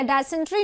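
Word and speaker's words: dysentery: डिसेंट्री में या डायसेंट्री जो भी बोलते हैं, ई आता है इसमें, डिसेंट्री, वैसे इसका राइट प्रोनाउंसिएशन होगा आई।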